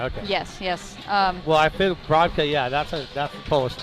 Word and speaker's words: Brodka: Well, I feel Brodka, yeah, that's a Polish name. Yeah, in Polish would be Brudka. but Rutka. yeah. So That'd be the correct way to pronounce it.